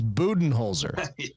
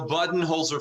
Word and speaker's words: Budenholzer: and all the media has been saying his name wrong because he's coach bud but everybody says buen holer how do you say his name okay okay